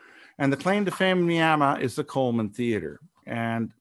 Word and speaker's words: Miami: town now called my it's actually spelled Miami but they pronounce it Miama no one explained it why and the claim to fame Miama is the Coleman theater